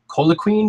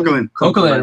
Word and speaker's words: Coquelin: I saw you guys just recalled Colaquin. Did I pronounce his name correctly? Coquelin, right?